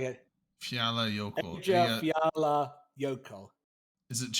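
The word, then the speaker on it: Eyjafjallajökull: It's like Eya Fiat Yokel. So the double L is a T sound? Oh, Yeah. J1 is saying it. Fiala Yoko.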